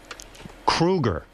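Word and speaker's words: Kroeger: And Chad, you know, your last name is Kruger. Thank you. I don't know if you pronouncing know that.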